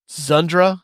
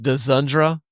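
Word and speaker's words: Dzundza: This stars Denzel Washington, Gene Hackman, George Zundra. I think that's how you pronounce his name. Yeah, I think so. It looks like it's Dzundra.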